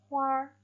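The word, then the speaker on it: 花儿: Ditambah kita tidak boleh membaca dengan hua melainkan huar.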